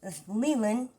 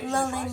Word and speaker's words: Leland: It's Leland, in case you're someone that cannot figure out how it's pronounced. It's like the Lee and the Lin is put together. Leland. It's not Lulin or Leyland.